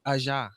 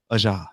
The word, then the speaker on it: Aja: Well, the name of my photography business is called Aja Image. Aja. Aja, yes. Okay. Aja Image. It's spelled AJA. It's AJAA Okay. Image.